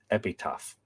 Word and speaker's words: epitaph: Apparently he was killed and then carved his own epitaph. No, there isn't a H there, Anthony. It's epitaph.